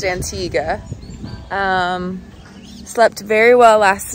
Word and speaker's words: Antigua: morning from antigua antigua it's pronounced antigua um slept very well